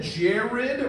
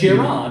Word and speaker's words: Gerard: I prefer it than Jared or Gyrad. Gyrad happens. Yeah. How do you say my name? Me? Yeah. Gerard, like, because that's J-I-R-A-R-D. It's Gerard, like, it's very straightforward.